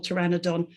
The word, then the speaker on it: pteranodon: So in helicopter and lepidoptery, we hear the p, but not in pterodactyl, pteranodon, and so on.